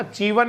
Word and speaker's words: chevon: Family same छे, बकरी को मांस चीवन कह दो, सीवन कह दो, है ना, चीवन या चेवन, सीवन, इस तरह से बोल भाई, CHEVON होता है।